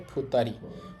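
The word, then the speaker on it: 二人: এটাকে বলতে হবে ফুতারি।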